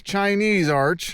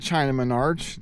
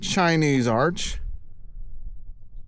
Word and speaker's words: Chinese Arch: It's Chinese Arch. I always call it Chinaman Arch. Chinese Arch.